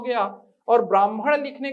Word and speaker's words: ब्राह्मण: और बिल्कुल वैसे ही आप याद रखें, सही वर्तनी है और सही उच्चारण है ब्राह्मण, जिसे ब्रह्म ज्ञान है ब्राह्मण।